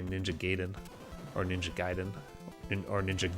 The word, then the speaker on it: Gaiden: I saw them do Ninja Gaiden once. That was really fun. I know it's pronounced Gaiden, but I do not care.